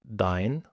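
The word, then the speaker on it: dein: تبقى كلمه مثلا زي ماين ماين ماين او داين ماين يعني بتاعي داين يعني بتاعك فيبقى داين 9ين يعني لا بالانجليزي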